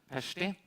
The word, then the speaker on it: Pesti: Our second speaker is, and I've practiced a little bit on correct pronunciation, Berta Pesti, just like in Budapest, I learned, which happened to be her hometown originally.